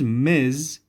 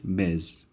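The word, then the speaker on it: Ms: of being married or unmarried so we use miz before the name of a woman who is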